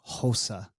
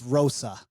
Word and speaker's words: Rosa: kanad at plus 154 stop saying HOSA the Brazilians have come to America that's how I heard it pronounced no that's these Brazilians come to America they can speak American it's Rosa Rosa no no Rosa Rosa we roll in the r Rosa Rosa um are